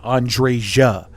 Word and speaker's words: Andreja: Okay, so you do pronounce the J, Andreja.